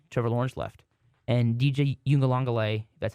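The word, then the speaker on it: Uiagalelei: the same since Trevor Lawrence left and DJ you in the longelay that's how you say his name I did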